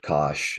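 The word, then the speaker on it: cosh: ahead on Zoom um I've I've also heard Kos and then I've heard it pronounced cinch or sign H I've heard that one as well yeah cinch and Kosh are the two I say a lot but when it comes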